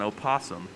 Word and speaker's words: opossum: sources miriam webster says you do not have to pronounce the o some places say you